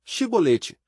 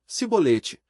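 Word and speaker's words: Chibolete: E dizendo ele, não, então lhe diziam, dize, pois, Shibolete. Porém ele dizia, Sibolete, porque não o podia pronunciar bem, então pegavam dele,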